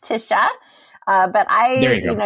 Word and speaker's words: Tisha: as well is there tacha is there anything we're missing any terrible pronunciation on my side on on your name or anything else no you it was all great my name is pronounced Tisha uh but I you